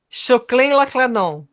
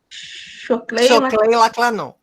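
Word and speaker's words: Xokleng-Laklãnõ: Guarani, Caigangue e Lacanho, como é que se pronuncia, prof? Choclen-Laclanon. Choclen-Laclanon.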